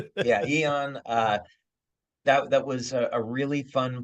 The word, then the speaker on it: Aeon: So Eon Oh, had, Eon. yeah, It's spelled a little different. Yeah, Eon.